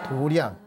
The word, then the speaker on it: 도량: 우리 불교에서는 원래는 태권도 도장, 도장할 때 이렇게 써가지고 원래는 도장인데 우리 사찰에서는 불교에서는 이걸 도량이라고 읽습니다. 도량.